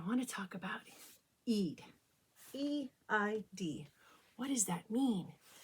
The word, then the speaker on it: Eid: but first i want to talk about eid e-i-d what does that mean eid in arabic means festival or holiday what a